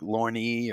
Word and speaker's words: Lorne: I'm like, it's Lorne. Just one syllable. Keep it simple.